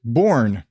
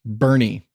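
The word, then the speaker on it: Boerne: I was talking about it's spelled BOE R and E or some like that I pronounced it born yeah that sounds like born apparently it's pronounced Bernie what I actually was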